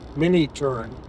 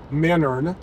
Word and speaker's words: Minturn: from Leadville to mentoring mini turn would be the way you would spell that but apparently the way you say it is menern so the locals used to pronounce it anyway I don't know